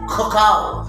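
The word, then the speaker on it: כוכב: இங்க பாருங்க புள்ளி வரவில்லை, ரெண்டுத்துக்கும் புள்ளி வரவில்லை. இதனுடைய இது இந்த எழுத்து என்னன்னா கொகாவ். கொகாவ், கொகாவ் என்றால் ஸ்டார். இங்கிலீஷ்ல ஸ்டார், தமிழ் நட்சத்திரம். ஸோ CH சவுண்ட்ல செயல்படுகிறது.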